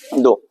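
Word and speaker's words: though: बोलते हैं बाबू सुनो टी एच ओ यू जी एच को इंग्लिश में दो पढ़ा जाता है क्या पढ़ा जाता है इसका उच्चारण क्या होगा दो जैसे देखिए पी यूटी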